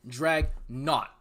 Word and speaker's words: Dragnauct: average plant no when i was playing pokemon in north carolina i was like 13 14 whatever anyway anyway drag not like it's all for naught it's not that hard